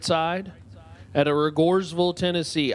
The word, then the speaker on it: Rogersville: I'm pretty sure it's pronounced Rogersville, but the locals tell me otherwise, so I'm going to follow the locals to be respectful, but I think they're playing a joke on me.